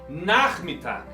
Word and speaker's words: Nachmittag: CH, ya sabemos, es como una J española. Der Nachmittag.